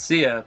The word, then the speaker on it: Sia: i think of ladies it's sia but it's spelled i think it's i think it's spelled saya like yeah ladies dude